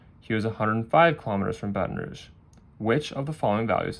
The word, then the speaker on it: Baton Rouge: And if I'm mispronouncing that, those Louisianans, please correct me, but I'm pretty sure it's Baton Rouge.